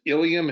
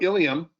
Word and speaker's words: ilium: So ilium and ilium, spelt this, are pronounced the same way, spelled differently.